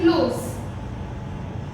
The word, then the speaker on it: close: For example, if I am writing close, so over here at last e is there, but the sound of the e we are not speaking. The sound is over here silent. E is silent over here.